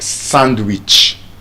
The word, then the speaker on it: sandwich: So that's why it's not sandwich. Sandwich. Sandwich. The D is silent there as well.